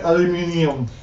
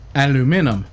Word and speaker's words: aluminium: But I will say aluminium. Aluminium. Aluminum. Aluminium. Aluminum. That's the correct way to say it. The correct way to say it is Aluminium, aluminium. I know. But we don't even spell it the right way here. If we were to try and say it that way, it would be aluminum.